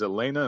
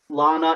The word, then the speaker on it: Lana: and uh how do you say that is elena and lilly uh wachowski lana and lilly which i'll tell you there you